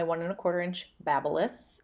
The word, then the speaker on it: BaByliss: and a quarter inch babulus I know it looks like babyless but it's pronounced BaByliss um I am going